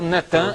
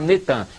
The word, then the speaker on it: Natan: No dia 4 de novembro de 2002, lança o nome do ex-primeiro-ministro de Al-Shorud de Israel, Natan, é Natan, eles já fizeram o sincretismo, botaram Netan, mas é Natan Yarro.